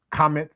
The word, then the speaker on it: Kemet: that exact same kemet, which is why in many of the Francophone countries, they don't use the pronunciation kemet. They say kamet or kamita or things along those lines, because it's more in alignment with that pronunciation.